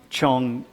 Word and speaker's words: Chongqing: And how you pronounce that city, by the way? Chongqing. How is it? Chongqing. Chongqing.